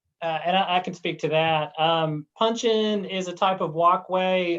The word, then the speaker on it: puncheon: the walkway or puncheon, is that the way you pronounce that?